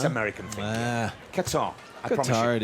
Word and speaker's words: Qatar: I've heard it pronounced so many different ways. Is there an actual, the proper way? Qatar. It's Qatar.